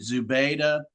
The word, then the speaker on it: Zubaydah: Is it Zubaydah? Is that how you pronounce?